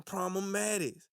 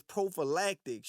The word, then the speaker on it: prophylactics: By wearing problematics. Sean, your old non-pronouncing ass. The word is prophylactics.